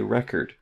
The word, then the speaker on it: record: So what we're going to do is we're going to say, okay, record, record. The biggest stress is on the beginning here.